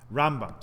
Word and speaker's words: Rambam: should be rolled into one nevertheless maimonides rambam rambam sorry let's pronounce it properly uh does believe and in